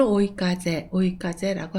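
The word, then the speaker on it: 追い風: 이윤이나 목적 또는 추가 청구의 준말로 추구라든가 초과분을 추구하다 라든가 목적, 사실을 추구하다 할 때는 이 한자를 써서 찌규라고 읽습니다. 훈독은 오입니다. 쫓다, 추구하다를 오라고 하고요. 순풍을 오이까제라고 합니다.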